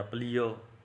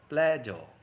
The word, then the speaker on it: pleasure: यहाँ पे देखिए ट्रेडिशनल पॉइंट ऑफ व्यू से हम बहुत ही रॉन्ग प्रोनाउंसिएशन करते हैं। प्लेजर या प्लियर, ऑल टाइम में प्लियर भी बोलते थे, मैंने सुना है कई टीचर जिसका इस तरह से प्रयोग करते थे, लेकिन इसका रियल प्रोनाउंसिएशन क्या होता है? प्लेजर।